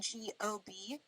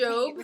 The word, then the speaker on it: Giobbi: And a lot of times people think I'm saying G-O-B, like gob. So then people pronounce it like God. Yeah. I'm like, no, I'm not spelling it out. Or I'm like LP, Job from Arrested Development.